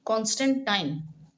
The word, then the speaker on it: कॉन्स्टेंटाइन: तो काफी समय के युद्ध के बाद 312 ईस्वी में कॉन्स्टेंटाइन। ठीक है? ये सही प्रोनाउंसिएशन है। कॉन्स्टेंटाइन पूरे साम्राज्य का एकमात्र शासक बन गया।